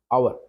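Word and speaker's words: hour: अगर आवर दिया होता एच ओ यू आर ठीक है इसका जो उच्चारण होता है दोस्तों होता है अ आवर तो यहां पर जो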